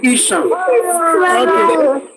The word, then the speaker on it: Esan: Listen, it was when the British want to pronounce Esan, they will say Ishan.